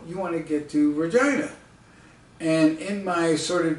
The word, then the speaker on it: Regina: Now, at this time, I don't know that Canadians pronounce Regina as Regina, which rhymes with, you know.